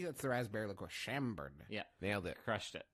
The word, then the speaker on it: Chambord: Isn't I pronouncing that correctly? That's the raspberry liqueur. Chambord.